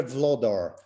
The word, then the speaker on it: Wlodar: your your full name it's vlador my full name is actually vlodarczyk i'm from poland originally however for business uh and everything else i'm just vlador okay here we go